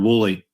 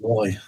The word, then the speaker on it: Woolley: Pronounced exactly how it's spelled. Woolley. Woolley. See, I was just overthinking it. Mm-hmm. Yep, don't overthink it. Just Woolley.